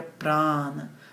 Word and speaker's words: prana: É o prana, que a pronúncia mais correta seria prana, mas tudo bem. Vou falar prana só porque é o que as pessoas estão mais acostumadas a escutar.